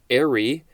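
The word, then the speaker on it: aerie: color and distinctness distinctness next is arie a-e-r-i-e or spelled a-e-r-y and yes i believe i am pronouncing that correctly this is a noun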